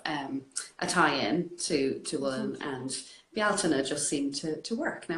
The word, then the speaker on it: Bealtaine: And actually how to pronounce it, because a lot of people maybe would have seen it written out and kind of going Bealtaine So Bealtaine is an Irish word, the Irish